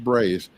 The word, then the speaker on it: Braze: And I was told how to pronounce that because it rhymed with praise. So if you're wondering how, it's Braze.